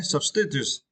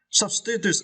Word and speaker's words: substitutes: okay substitutes and uh you need to stretch the first syllable sub okay substitutes substitutes in uh far is